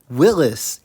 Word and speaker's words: Willys: below after the show according to Wikipedia Willis is the correct pronunciation 1950 Willis model lineup